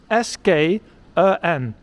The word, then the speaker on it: skön: S-K-Ö-N. It's a nice word because it has the ch sound. Skön. Which is a bit tricky to pronounce when you just come to Sweden.